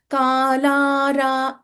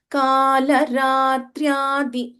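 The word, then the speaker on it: कालरात्र्यादि: this particular verse 1101 we should not प्रोलोंगेट unnecessarily काला रा इट्स not correct काल रात्र्यादि the only अप्रोप्रियट pronunciation like not very long not very short should be observed then the third मोस्टेंट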